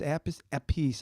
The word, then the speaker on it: Appice: It's Appice. I did not know. Appice or Appice? Okay. I don't know how you pronounce it.